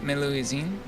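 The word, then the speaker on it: Melusine: you really thank you meluizine is that how you pronounce that yep your pronunciation's correct well then let's start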